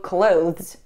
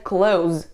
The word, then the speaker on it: clothes: Следующее, от чего я рекомендую избавиться, это слегка неправильное произношение слова « clothes». «Clothes», да, мы не произносим его в два слога.